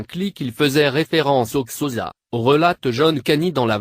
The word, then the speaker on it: Xhosa: Le nom même de la langue se prononce Xhosa, en claquant l'arrière de la langue.